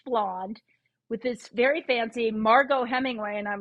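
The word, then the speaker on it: Margaux: awful lot like my sister only her name is spelled m a r m-a-r-g-a-u-x now margo as far as i know my sister and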